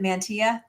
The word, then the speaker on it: Manteo: Is it Manteo? It's Manteo.